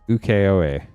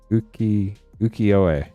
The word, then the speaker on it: ukiyo-e: I think it's ukiyo-e. Ukiyo-e. Something like that. I was saying it wrong.